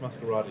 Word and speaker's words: Masquerada: I think it's pronounced Masquerada, yeah.